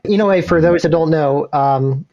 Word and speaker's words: Inoue: It helps to pronounce Japanese names is that every syllable stops at a vowel. So Inoue, 1, 2, 3, 4 syllables technically. And then if you slur them all together, Inoue.